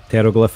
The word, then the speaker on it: Pteroglyph: go to the bathroom that's the silent p yes yes now you